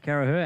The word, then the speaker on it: Carracher: while we're at it isaac carragher as it is felt as well a couple of seas